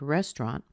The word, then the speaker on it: restaurant: to be the same we're going to put our main stress on a rest because that is where we have the primary stress in the word restaurant but there's a secondary stress on raw so what that means is it's going to be a medium sound it's not too small it's not also really big either like rest but this vowel right here that is the vowel ah as in father raw Ron's you